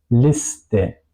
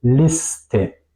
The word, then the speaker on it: Liste: Y el caso contrario, si la SCHT está o no está al principio de la sílaba, por ejemplo, Liste, Gast, no digo Liste, yo digo Liste, separo S y T, tal cual como en estar, por ejemplo. En estos casos es como en español.